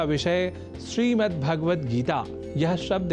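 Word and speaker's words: श्रीमद्भगवद्गीता: यह शब्द ही है जैसा कि मैंने उच्चारण किया श्रीमद् भगवत गीता जिसे अवधान वश हम श्रीमद् भगवत गीता या श्रीमद् भागवत गीता या भागवत गीता कर जाते हैं जो सर्वथा अशुद्ध है इन उच्चारण में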